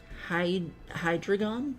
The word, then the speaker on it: Hydreigon: Hydreigon?